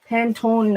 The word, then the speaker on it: Pantone: the whole books of pantone is how you pronounce it pantone uh paper swatches my postcards from penguin i